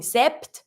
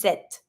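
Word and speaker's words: sept: the in this one so you're not going to be saying se but just set set you pronounce everything in this one this this 10 same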